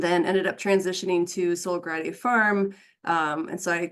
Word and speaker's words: Sola Gratia: So it's pronounced Sola Gratia Farm.